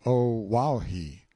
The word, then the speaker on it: Oahu: him after this island Oahu pronounced o wahi the first gate he